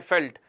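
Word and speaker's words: veldt: घास के मैदान को फेल्ट कहते हैं हालांकि लिखते हैं वी ई एल डी टी है लेकिन प्रोनाउंस करते हैं फेल्ट और हंगरी के मैदान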